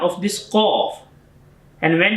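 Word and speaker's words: ق: heavy sound of this Qaf. And when it's Kaf, this is a different shape of the Qaf. So this is sound is Kaf. Kaf, not Qaf.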